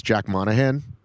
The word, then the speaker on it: Jack Monahan: So, the guy I want to talk about is Jack Monahan. Do you know who that is? Tell us. That's how you pronounce his name.